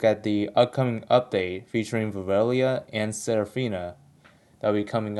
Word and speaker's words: Virelia: you pronounce her name like I did pronounce her initially as viia but velia is actually the is the actual pronunciation so we're going to